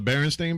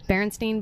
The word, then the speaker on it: Berenstain: in Braille spells it it's sta AI n on the book and I thought I was ste i N Berenstein bears its Berenstain today that's just dyslexia